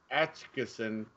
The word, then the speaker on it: Atchison: It's Atchison, Kansas. Man, I can't. Atchison's, Kansas. I think that's how you pronounce it.